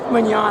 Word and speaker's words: Mignogna: We are here with Vic Mignogna.